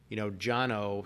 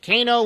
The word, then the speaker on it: Cano: And my dad's initials were CAO, Jono spelled CANO. So growing up in Nashville, everybody's like, Kano, when are you going to play some tennis? Right. So like, no one can pronounce it. Jono with a C, are you kidding? Right. Right? I mean, that's the Armenian pronunciation.